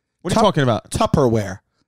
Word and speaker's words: Tupperware: are you talking about tupperware tupper it's chopper it's tougher babe it always has been always will be yeah did you know that pimp that it was tupper i thought it was tubberware because it kind of looks like a tub you know that makes